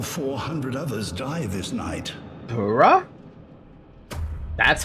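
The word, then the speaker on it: Burakh: Bura. That's how you pronounce it. Bura. Huh? Wow. Okay. I You know what? I just realized we're surrounded by tombstones. This entire time I thought it was pronounced Barack.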